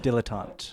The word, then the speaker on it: dilettante: is the del atonte that is how you pronounce it dilettante dilettante that's that they're desperate for cash and